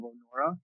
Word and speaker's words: Onora: is the tail of o'norah onora is spelled o-n-o-r-a it's a play on the word honor and uh other than